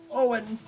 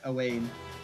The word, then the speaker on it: Owain: Elaine, Owen. From what little I've learned of, I think that's Welsh. That is pronounced Owen rather than Owain.